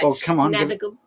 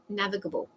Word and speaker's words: navigable: what navigable I don't that's how you say naig navigable we'll extra syllable I think you know say it's